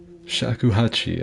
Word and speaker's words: shakuhachi: i'm a gamer yeah i think it's shakuhachi i think is how you say it s-h-a-k-u and hachi i could like i said i could be butchering that but oh wait